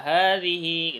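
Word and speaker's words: هذه: Kemudian hadhihi ha panjang, dhihi hi-nya juga panjang. Jadi wa hadhihi gitu.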